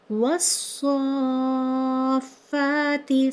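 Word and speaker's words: وَالصَّافَّاتِ: इस वर्ड को हम कुछ इस तरह पढ़ेंगे, वस्साफ़ाती। किस तरह पढ़ा? वस्साफ़ाती, सफ़ा। तो स्वाद को हमने यहाँ पर खींच कर पढ़ना होगा।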